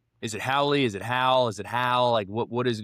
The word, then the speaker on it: Hal: So, it's Hal, like H A L.